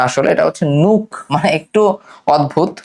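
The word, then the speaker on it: Nuuk: নিউক। নিউক না আসলে এটা হচ্ছে নুক। মানে একটু অদ্ভুত প্রোনাউন্সিয়েশনটা।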